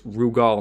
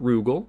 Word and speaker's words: Rugal: kof is called rugal it's rugal not rugel it's rugal because of the way